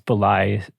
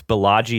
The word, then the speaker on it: Balaji: Valley CEO type balai uh I'm sure mispronouncing this bully srinivasan it's Balaji srinivasan Balaji perfect thank you for thank